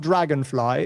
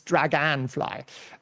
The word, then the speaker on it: Draganfly: It's not Dragonfly. It's Draganfly. Maybe there is some Drag and fly.